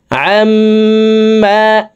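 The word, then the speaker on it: عَمَّا: মিমের সাথে তিন সেকেন্ড পরিমাণ গুন্নাহ করে পড়ব আমমা আইনকে হালকের মধ্যখান থেকে উচ্চারণ করব আমশরিকুন সুবহানাল্লাহি আমমা ইশরিকু হু আল্লাহুল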